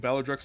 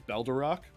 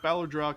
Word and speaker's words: Ballardrock: Personally, I prefer my way of mispronouncing Ballardrock's name, which is Baldarok, because I think it sounds better.